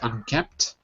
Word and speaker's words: unkempt: So the P is unkempt. The P, I guess, is silent. I never really thought about this before. Unkempt. Unkempt, right. The P is silent, yeah.